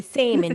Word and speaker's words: salmon: Salmon without the L.